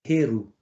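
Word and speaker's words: Heru: faire la transition Horus son vrai nom c'est herou herou parce que quand tu prononces Horus tu parles en grec et tous les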